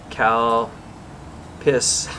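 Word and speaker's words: Calpis: drinks at the vending machine i got the cal piss water trying to say that carefully that's how you spell it there guys before you before you start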